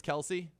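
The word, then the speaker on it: Kelce: nothing else making them always call themselves kelsey but it truly actually is kels but that is just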